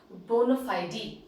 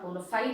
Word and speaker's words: bona fide: It is actually a word which is derived from the Latin language, which is pronounced as bona fide, fide. The pronunciation in Latin is actually bona fide. It is not bona fide as we use it.